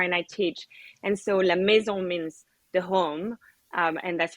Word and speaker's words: La Maison: I'm pretty good with Spanish, but I'm not great with French pronunciation. So I'm going to give it a try. La Maison.